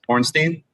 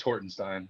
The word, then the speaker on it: Hornstein: lapian's office barksdale horns pornstein i'm sorry it's hornstein but i'm president yes